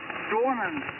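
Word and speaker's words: Dwinon: It was pronounced Dwarnon.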